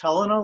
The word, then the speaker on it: Helena: Is it pronounced Helena like in Montana, or Helena?